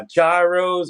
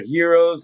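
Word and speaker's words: gyros: do Mediterranean food uh jyos or Heroes however you prefer pronouncing the word um amazing and they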